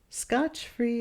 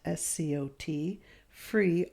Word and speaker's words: scot-free: Scotch-free and Scott, S-C-O-T, free are incorrect. It's scot-free, one T and a hyphen.